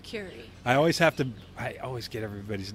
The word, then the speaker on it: Kuri: Kuri. I always get everybody's name wrong. But the Kuri, like Madame Curie.